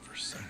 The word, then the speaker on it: Versace: Like Versace is pronounced Versace, but it's spelled Versace. But it's Italian, so you pronounce it Versace.